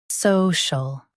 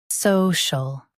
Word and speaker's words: social: social Now read the syllables shown on the screen naturally. so shul social Stress saw and keep shul soft.